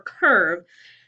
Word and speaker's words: curve: is just confusing because that makes it look like a macron and it's a long E sound, but it's not. We don't hear the E.